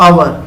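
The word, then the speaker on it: hour: फिर वही बात हमने बताई थी आपको, आवर, इसमें एच साइलेंट रहेगा, इसको आवर पढ़ेंगे और हम इसमें भरेंगे एन।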